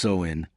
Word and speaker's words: Samhain: Long before plastic skeletons and haunted houses, ancient Celtic tribes gathered under flickering bonfires to celebrate Samhain, pronounced So-in, a night when the world of the living and the dead brushed close enough to touch.